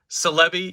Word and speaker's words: Celebi: can't have mu without celebi yes that's how i pronounce it like celebrity i know celebi is